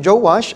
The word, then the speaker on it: Joash: Sa English po Joash. Sa tagalog Joas. Gagamitin ko po mas madali sa aking i-pronounce yung Joash.